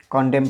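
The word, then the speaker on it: condemn: यहाँ पर भी एम के बाद एन आ रहा है तो इसमें कॉन्डेम पढ़ा जाता है।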